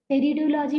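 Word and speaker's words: pteridology: टेरिडोलॉजी, टेरिडोलॉजी में P silent होता है।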